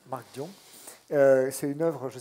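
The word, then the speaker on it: Mark Dion: Et oui, toi, tu le prononces à l'américaine, mais moi non, Marc Dion.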